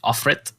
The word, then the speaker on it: Offret: The Sacrifice, or the Swedish pronunciation is Offret, I guess, is a 1986 drama film directed by Andrei Tarkovsky, which would be his last film.